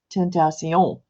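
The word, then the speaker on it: tentación: I don't know if I'm saying tentation correctly for Italy or for French, but in Spanish, it's tentation, right? And the accent is on the on, Mm-hmm.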